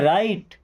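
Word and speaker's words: write: तो डब्ल्यू के बाद जभी भी आर आएगा तो डब्ल्यू हमारा साइलेंट हो जाएगा। साइलेंट लेटर का मतलब क्या? उसको लिखा जाएगा बट पढ़ा नहीं जाएगा।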